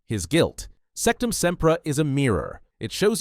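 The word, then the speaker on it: Sectumsempra: Sectum Sempra. 2 syllables, sharp as a knife.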